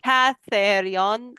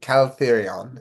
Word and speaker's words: Caltherion: Catherion. I will get it. Oh, no, there is an L there. I don't have it. Okay. Caltherion.